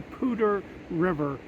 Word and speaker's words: Poudre: But it's right by what they call the Poudre River, and it's kind of spelled Poudre, but it's pronounced Poudre River, up in the Poudre Canyon, just west of Colorado Springs.